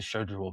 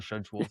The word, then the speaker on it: schedule: who called it the schedule. Get your schedules out. For us, it's a hard it's a hard it's it's a hard C. It's a schedule sk may as well be a K.